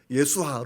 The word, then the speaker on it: 예수아: 말고 대제사장 여호수아가 나와요 여호수아 예수아 부르는 그런 히브리 발음인데 이름의 뜻이 무엇일까요 예수와